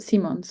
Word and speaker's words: Simons: Because in Dutch you pronounce it also very similar, Simone, Simons, not like Simmons, but Simons.